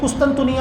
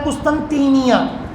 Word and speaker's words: قسطنطینیہ: اس کو قسطنطینیہ بھی کہا جاتا ہے لیکن قسطنطنیہ لوگوں میں مشہور ہے، بہرحال اصل تلفظ ہے قسطنطینیہ.